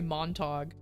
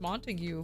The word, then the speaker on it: Montag: Because I'm like, "Oh, my name is Montag." And I'm just sitting there like, I could have sworn it would be pronounced Montague, but that's what I get for assuming.